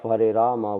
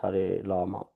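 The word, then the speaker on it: Hare Rama: In some language, the letter R does not exist. Therefore instead of harama one chants har lama.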